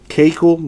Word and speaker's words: Keuchel: Kekel, that's how you pronounce it.